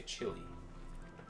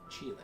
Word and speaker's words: Chile: I'm very cultured, so I don't say Chile. Chile.